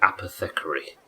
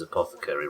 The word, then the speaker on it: apothecary: She pronounced it apethecary. Are we willing to help somebody that pronounces apothecary wrong?